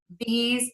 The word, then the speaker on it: these: hear people mispronounce are those these and because those these cause because those are all pronounced with the z sound at the end yeah and those